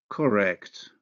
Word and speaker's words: incorrect: Look at how the alveolar nasal becomes velar when followed by the velar consonant, K. Incorrect.